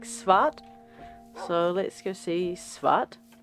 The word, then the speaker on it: svart: And so we've named him Black in Swedish, which I believe might be pronounced something like Svart.